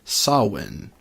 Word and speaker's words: Samhain: that it apparently that correct Gaelic pronunciation is saw win' even though it's spelled